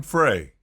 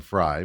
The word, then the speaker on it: Frey: Your girl, Autumn Frey, on Twitter. Autumn Fry, but okay. You say it how you want to say it. I jokingly say it Frey because it's spelled that way.